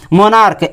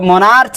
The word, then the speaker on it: monarch: आगे मोनार्क, MONARCH, तो मोनार्च नहीं मोनार्क पढ़ेंगे हम लोग।